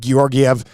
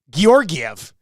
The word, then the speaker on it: Georgiev: How many other words have 2 hard G's in it at the beginning and the middle? Name another one. Georgiev.